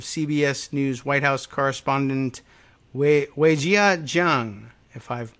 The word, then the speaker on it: Weijia: It's a Cajun last name, another CBS reporter who includes video, I guess, of Weijia's, how does she pronounce that?